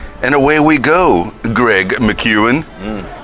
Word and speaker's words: McCuin: away we go Greg McEwan mmm am i pronouncing that properly yes all right so we're